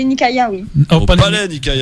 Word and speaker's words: Nikaïa: dit vas y ça parce que moi j'ai prononcé nakaya la salle au palais nikaïa alors pas de malaise